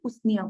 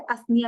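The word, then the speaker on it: Usnea: कुछ लोग इसे असनिया भी पढ़ते हैं, what ever way you want to pronounce you कैन, बट याद रखो कि ये हैंगिंग में आ, असनिया या उसनिया।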